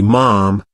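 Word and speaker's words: ma'am: first meet the Queen the correct formal addresses your majesty and subsequently mom pronounced like Jam and then when you're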